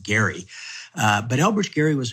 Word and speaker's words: Gerry: touch more about Elbridge Jerry than most probably do. Most Americans know nothing about this man Elbridge Jerry for whom this term is named or as he is said to have pronounced it Gary.